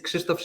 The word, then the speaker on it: Krzysztof: In Polish, it's Krzysztof. Not feasible to pronounce.